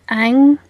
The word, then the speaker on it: Ingres: You can look at some of the later works of Ang, which is spelled Ingres, where he has Turkish bathhouses, with all sorts of women laying about in there.